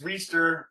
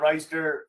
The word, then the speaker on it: Reister: guy named rob reister it's reester it's not reister uh now another cool